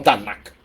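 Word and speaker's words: Tanakh: escritos usan un acróstico una sigla tnk que se pronuncia como tanac Okay ahora en el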